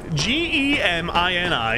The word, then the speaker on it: Gemini: is in Jiminy Cricket no it's Gemini g e m i n i is pronounced Gemini I don't care what anybody says they're wrong dick not you